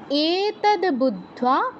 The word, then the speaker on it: বুদ্ধ: টা দীর্ঘ উচ্চারণ করব বুদ্ধ বুদ্ধিমান বুদ্ধ বুদ্ধিমান কৃতকৃত ভারত বুদ্ধ এর নিচে দোগ আছে দ ধ তিনটারই উচ্চারণ আসতে হবে বুদ্ধা এতদ বুদ্ধা বুদ্ধিমান সিয়াত